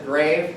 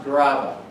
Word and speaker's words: Grave: It looks like it says grave. It's pronounced grava. Grava. Not grave.